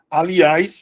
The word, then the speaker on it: aliás: Aliás, a mesma coisa, ó. A li as. Então aqui eu vou precisar ter o acento.